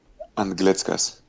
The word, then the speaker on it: Anglickas: Anglickas.